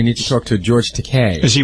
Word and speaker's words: Takei: on the satellite George teay is a it's teai by the way it's te rhymes with okay he'll explain to you